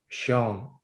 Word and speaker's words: Sean: I changed it to Sean. I see the Irish way, Sean, S-E-A-N.